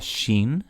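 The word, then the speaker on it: שׁ: If the dot is over here, it's going to be pronounced like a softer S. So we have sheen, seen, sheen, seen, sheen, seen.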